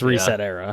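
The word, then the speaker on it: ResetEra: like one word weird he said reseta I think it's reset era I think that's how you say it but anyway that's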